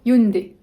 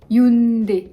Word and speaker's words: Hyundai: facile et en vain hyundai hyundai hyun des comme 1d ou 2d des coussins des hyundai